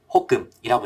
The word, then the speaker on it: HOCM: 중간에 이제 obstructive 단어를 끼워 넣으면은 HOCM이 되는데 요거를 호금이라고 읽습니다.